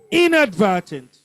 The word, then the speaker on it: inadvertent: Inadvertent. First syllable.